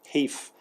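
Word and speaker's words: HEIF: both video and still photo file format called kief as Apple pronounces at htif and HEV C for the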